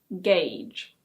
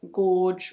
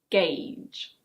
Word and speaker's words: gauge: This one is: gauge. It's not "gorge" or "gouge". It's: gauge. Next we have: sieve.